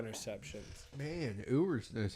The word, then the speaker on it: Ewers: But Quinn Edwards. No. I keep saying his name wrong. No. Quentin Ewers.